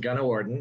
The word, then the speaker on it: Gunawardane: got the name right it's pronounced it's pronounced gunna warden and that's that's pretty